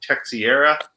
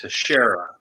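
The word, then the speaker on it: Teixeira: earlier when you mentioned i think you called him tech sierra yeah i think that's a portuguese name pronounced teshera because there was a baseball player uh mark teshera you got people from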